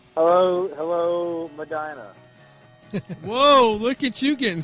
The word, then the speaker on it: Medina: British accent hello hello Madina whoa look at you getting specific and you even said it correctly everybody else calls a Medina it's Vina rhymes with vagina how the hell does